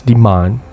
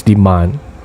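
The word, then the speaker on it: demain: how do you say tomorrow in french it's demand sorry so at this point zach couldn't hear clearly so he asked jasmine to repeat can you say that again please yes it's demand now at this point after zad got the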